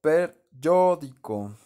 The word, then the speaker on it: peryódico: valencia 7 del yodo, anhídrido peryódico, ¿no? Acento en la O, y la ico, porque es el más grandote, per, y el ico en la fórmula tradicional, ¿no?